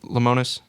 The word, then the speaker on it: Lemonis: mean he i think chris how do you pronounce it lemonis that's it chris lamont is the manager head